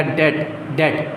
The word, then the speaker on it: debt: Liability मतलब कर्ज, obligation यानी जिम्मेदारी, या डेट, इसको बी नहीं पढ़ते, इसमें डेब्ट नहीं कहते, इसको डेट कहते हैं, बी साइलेंट होता है, DET, डेट। ठीक है, लिखते हैं DEBT।